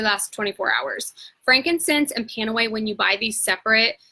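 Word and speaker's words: PanAway: that much money so panawe is for all things it was spelled PA and E so pain away phonetically and they made us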